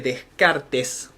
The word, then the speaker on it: Descartes: Pero, pero, pero el que es considerado el padre de esta etapa es este señor, que si bien se escribe Descartes, se pronuncia Descart, y es considerado por